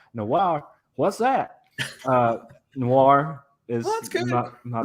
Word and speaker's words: noir: What's the opposite of old? New. And what does the pirate say? R. Noir. New R. It's not noir. It's Like noir. Noir. I give up. One syllable. Noir.